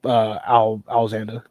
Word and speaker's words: Alzanda: No, it's literally Alzanda.